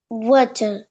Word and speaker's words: water: Water. আচ্ছা, ওয়াটারের আরটাকে pronounce করবেন না, ঠিক আছে, ওয়ার্ডের শেষে আর থাকলে আমরা এটাকে এইচ বলে ছেড়ে দিই। কি বলবো? এইচ Water. বলে ছেড়ে দিব, ওয়াটার বলেন। Water.